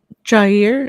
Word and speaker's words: Jair: No, I'm excited about Jair. Is that how you say it? Brown? Jair Brown, yeah.